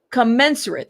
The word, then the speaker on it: commensurate: Commenserate. That's how you say that.